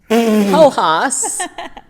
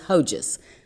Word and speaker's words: Hojas: Hojas, Hojas, and I'm assuming since it's from South America that we're not going to pronounce the J as Hojas.